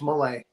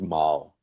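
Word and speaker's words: Malle: I always thought it was Malay. Yeah. Yeah. That's But I think it's Maul because it's French. Like Darth Maul. Yeah. Even though it's spelled M A L L E.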